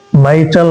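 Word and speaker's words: mitral: এটা এটার নাম এই কপার্টের নাম হচ্ছে মাইটাল ভাল কি নাম এমই মাই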